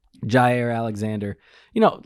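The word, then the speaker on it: Jaire: will Redmond and Alexander how do you say his first name is Jai or zai Jiao Jai air Jai air Alexander you know like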